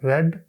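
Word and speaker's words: read: being रेड बाय मी ज पहली form होती है तो उसको रीड बोलते हैं और जब सेकंड थर्ड फॉर्म होती है तो रेड बोलते हैं अग spelling R ई ए डी ही होते हैं एक और एग्जांपल देखिए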